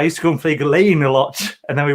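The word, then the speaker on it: Gullane: Is that like the way that Gullen is called Gillane in Edinburgh?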